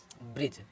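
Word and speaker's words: bridge: D silent होता है जैसे बी आर आई बी आर आई डी जी ई तो इसको क्या पढ़ेंगे ब्रिज इधर हमारा डी साइलेंट हो गया है क्योंकि इसके डी से पहले जी जी से पहले डी आ गया है तो हमारा डी साइलेंट हो गया तो ब्रिज पढ़ेंगे इसी तरह इसको पढ़ेंगे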